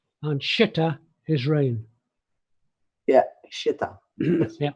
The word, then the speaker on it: xita: Yeah, Shita. Yeah. It's spelled with an X. Yes, It would be this. Xita. X-ray India Tango Alpha. Yeah. Shita.